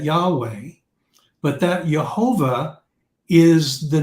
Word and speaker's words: Yahweh: scriptures you see that Yahweh how we pronounce y-h-v-h or y-h-wh okay we pronounce that Yahweh but that Jehovah is